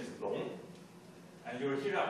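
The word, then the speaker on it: 龙: The character's pronunciation is Long.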